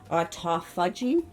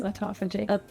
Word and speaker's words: autophagy: And today, I'm joined by Karina Moises, founder of Beautology Lab, a clean clinical skincare brand focused on stimulating autophagy. Is that how you pronounce it? Autophagy.